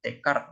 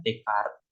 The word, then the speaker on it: Descartes: Biasanya orang-orang tuh nyebutnya Descartes pronounce-nya. Tapi orang Indonesia itu biasanya nyebutnya Descartes. Ya. Descartes. Orang Indonesia kan kalau nyebut-nyebut nama orang luar tuh kadang sesuai itu aja, sesuai huruf aja ya.